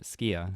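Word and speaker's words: Sukiya: the station there is a sukhiya or skia in Japanese it's one of the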